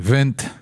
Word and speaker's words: Wind: because I'll always say the correct pronunciation would be Wind, Wind.